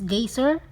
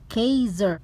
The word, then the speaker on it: Geysir: are going to gazer you know guys for this gazer it is Icelandic pronunciation Kaiser the great gazer is